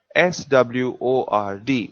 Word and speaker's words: sword: done the word sword s-w-o-r-d where w is silent so we say sword